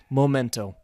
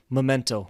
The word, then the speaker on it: memento: For example, memento, I pronounce it incorrectly. I say momento. So you should say memento, like the correct word.